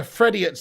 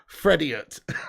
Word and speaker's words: Frediot: Frediot's a good one. I like that one, Johnny. Frediot. Oh my goodness me. Or Fredio, but the way I'm going to pronounce it's Frediot, like idiot.